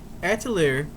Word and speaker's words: Atelier: Atelier, Eska, and Logi.